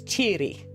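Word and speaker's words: tìoraidh: How you pronounce that is cheeri like cheerio, right?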